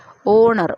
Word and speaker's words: honour: तो बट एन ऑनर बोलते हैं क्योंकि एच यहाँ पर साइलेंट है ओनर, इसको प्रोनाउंसिएशन कैसे करते हैं?